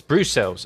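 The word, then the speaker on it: Brussels: Uh Brooks is pronounced Bruce Brucels. Bruce cells. Okay. Bruce cells.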